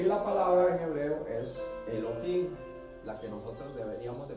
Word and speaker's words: Elohim: Elohim, la H se pronuncia como J, Elohim, significa Dios.